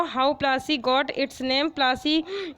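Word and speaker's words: Plassey: प्लासी इज एन in pronunciation of प्लासी एंड द प्लेस derived it's name from the पलाश tree known for its beautiful red flowers that yield gulal, the powder used in festival of Holi। जो प्लासी नाम था वो एक बिगड़ा, English pronunciation means बिगड़ा हुआ pronunciation है किसका, पलासी का।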